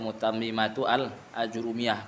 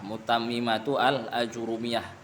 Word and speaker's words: متممة الآجرومية: Jadi pengucapannya bil idhafah Ustaz ya, Mutammimatu Al-Ajurumiyah. Kalau sebelumnya dengan ya wasaf Al-Mutammimah itu salah. Mutammimatu Al-Ajurumiyah.